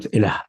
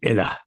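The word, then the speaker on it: إله: pronounced, it is not ilah, it is ilah. So after the Lam there is an alif, but that has been dropped in the writing, ilah.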